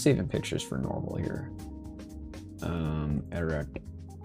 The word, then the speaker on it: Ararat: Ararat. How do you pronounce this, by the way? Ararat.